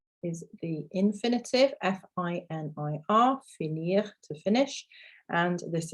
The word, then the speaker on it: finit: Fini, pronounced the same, but it has an IT on the end. So in terms of speaking, this is quite nice and easy because they are pronounced exactly the same.